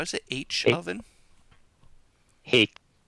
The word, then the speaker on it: Haech: Hake. Rhymes with bait.